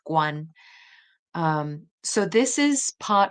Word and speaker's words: Guan: about the surname Guan, which in Mandarin is pronounced Guan.